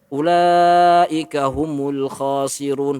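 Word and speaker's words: أولئك هم الخاسرون: Dan mereka kalau dikembalikan kepada orang-orang yang fasik, orang kafir dan sebagainya, sebagian qurra mengatakan cara membacanya diangkat suaranya. Ulaika humul khasirun, bukan ulaika. Seperti itu.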